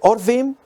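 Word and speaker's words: עורבים: Pueden pronunciarse Orvim y significan cuervos. Cuando se pronuncia Arvim, significan árabes.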